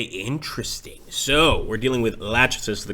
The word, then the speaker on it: Lachesis: So, we're dealing with Lachesis, the correct pronunciation here, a major Cylon general, and this should be an interesting conflict.